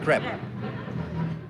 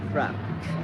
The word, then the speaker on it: crepe: It's crepe. Crepe? Crepe. Crepe. Not crap. Crepe.